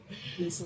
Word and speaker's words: Liysa: And Lisa is spelled Liysa.